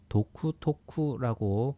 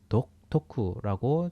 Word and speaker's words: 独特: 독토쿠나 효겐 다타간에 도쿠토쿠라고 발음하는 게 좀 어렵기 때문에 독토쿠라고 주로 말을 합니다.